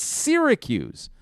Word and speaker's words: Syracuse: and I'd be like, where do you see an A? Where is that coming from? It's Syracuse.